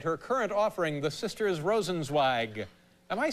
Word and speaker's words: Rosenzweig: Am I getting Rosenzweig properly? Yeah. And then is it Wasserstein or Wasserstein? Wasserstein. Wasserstein. E-I in Zweig is Eig.